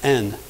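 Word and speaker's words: ἐν: very small it's a preposition spelled e en pronounced n and here it means to those that are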